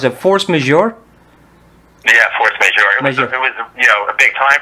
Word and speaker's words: Force Majeure: How do they pronounce it? Force Majeure? Yeah, Force Majeure.